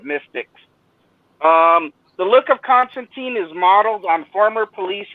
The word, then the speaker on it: Constantine: knew that it's actually alan moore said it's pronounced constantine not constantine which i don't know but he's the creator right so um so so constantine uh he wanted he